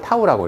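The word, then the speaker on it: tau: 요 타우, 요걸 타우라고 읽거든요.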